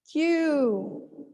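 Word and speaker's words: queue: word line okay great q q only one syllable you have several vowel sounds there vowel letters there but they this one two three four vowel letters represent only one sound in english q so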